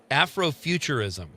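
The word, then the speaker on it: Afrofuturism: Afroofuturism.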